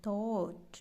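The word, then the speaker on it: thought: TH हम द पढ़ते हैं, इसको पढ़ते हैं थॉट। ठीक है, OU, TH था, OU थो बनेगा थॉट, GH साइलेंट है, थॉट।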